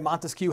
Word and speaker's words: Montesquieu: Montesquieu has a three-syllable last name.